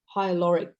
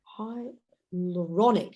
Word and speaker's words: hyaluronic: just told us was also hyaluric high I can I never could pronounce it hyaluronic there you go hyaluronic acid the